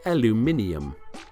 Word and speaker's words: aluminium: saw the use of all aluminum cans or as the british say aluminium by 1962 iron city